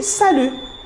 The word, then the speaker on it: salut: pour saluer vous avez salut salut et bien sûr ici on prononce pas le t on dit pas salut on dit salut salut on utilise le